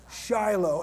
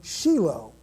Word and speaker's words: Shiloh: We say in America, we say Shiloh, and there's nothing wrong with that. But in Hebrew, you pronounce the word Shiloh.